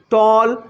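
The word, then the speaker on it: tall: আমি আরো একবার বলছি এ এর পরে যদি ডবল এল থাকে তাহলে ওই এ ভাওয়েল এর উচ্চারণটা হয়ে যায় অ যেমন এইচ এল এল হল টি এ এন এল টল বি A double L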